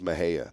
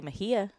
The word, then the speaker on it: Mexia: way if you looked what on Goods Earth would you think it was pronounced Mexia me x i a there no way no I wouldn't pronounce it I might say Mahia but it's but no it's Maha Maha yeah you know where